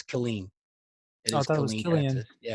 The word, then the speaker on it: Killeen: And from what I could put together, where the river is in Killeen, Texas, to Fort Hood, Killian. it's Killeen.